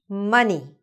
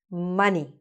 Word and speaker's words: money: Money. Another very popular word, right? Money. So money in English, even though it's spelt with an O, sounds exactly like bunny, which is with a U, all right?